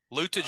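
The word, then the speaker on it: Luetge: Lutage is making it, right? His name's yeah, Lukey. Lutage will be there. Lukey is how you pronounce it? It's Lukey.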